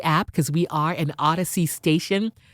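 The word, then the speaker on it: Audacy: from the odyssey app because we are an odyssey station it's spelled a-u-d-a-c-y odyssey open up that app download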